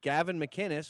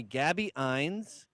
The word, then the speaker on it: Gavin McInnes: They call me Gabby Ines, Gavin, Mr. Gavin. One time this woman she couldn't do it. And I keep going, it's phonetic.